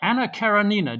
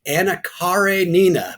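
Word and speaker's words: Anna Karenina: review you wrote about Anna karanina did I pronounce that right it's anakare Nina it took me a long time to figure that out car Ray Nina okay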